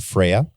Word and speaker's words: Freya: all shout out to Freya that's how you pronounce her name f r y a um has Freya been